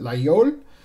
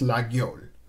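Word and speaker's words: Laguiole: France they pronounce it layout if you're in northern France they pronounce the G and it's legol so either pronunciation is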